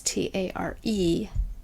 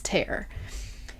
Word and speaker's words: tare: zero you're gonna hit what is called tear which is t-a-r-e tear i say tare in my head and that's not how you pronounce it it's tear and you hit that